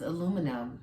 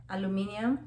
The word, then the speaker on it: aluminium: It's aluminum. Aluminum. Aluminium?